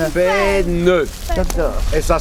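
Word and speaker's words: faîne: Non, pas fève, fène.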